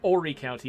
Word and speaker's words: Horry County: looks like it's called Horry County but it's pronounced Horry County you leave the H off so yeah that stuff